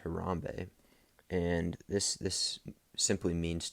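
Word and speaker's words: harambee: a word that kenyans use uh and it's pronounced harambe and this this simply means to pull together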